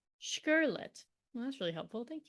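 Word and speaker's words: Škrlet: oh here we go it says here pronounced sherlet well that's really helpful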